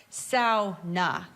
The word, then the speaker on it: sauna: So now we're in the sauna and if you see on this placard here it's pronounced sa definitive proof right there printed on paper.